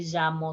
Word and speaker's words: llamo: i will probably say yo me llamo it is more like the j in joseph and jewelry let's see the next